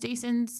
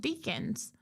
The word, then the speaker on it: Deason: That there's a lot of Deacons, and I didn't think that Deason's name would be mispronounced or like missaid all the time. I didn't realize that. And most people can't understand when I'm telling them his name's Deason.